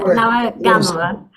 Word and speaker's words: Nawagamuwa: Miriam Nawagamuwa. Is that Close, close. Good effort, good effort. Yeah, no, always there. Nawagamuwa. Okay, Nawagamuwa.